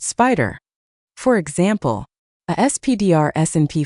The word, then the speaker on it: SPDR: A famous SSJ ETF family is the SPDR ETFs pronounced spider.